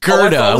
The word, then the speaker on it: Gera: one David zero uh Gera kind of sounds like girtha but just Gera with a hard with a hard G Gera cheese sounds like